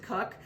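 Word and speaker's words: Koch: Cook is spelled K-O-C-H. We pronounce it Cook.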